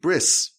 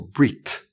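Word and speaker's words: ברית: Chassam Sofer says that the word for covenant, bris, in Hebrew, it's spelled Beis, Resh, Yud, Saf. Bris, or Brit.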